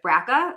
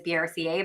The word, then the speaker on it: BRCA: grappling with brca um some people might have heard of braca um but really the correct way to say it is brca but I kind of don't always think about it I kind of just go between both so sometimes I'll say